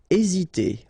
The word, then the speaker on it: hésiter: Hésiter. Okay, remember that H doesn't exist, so we don't pronounce it, and the first thing you will pronounce is this vowel here, E accent aigu, E.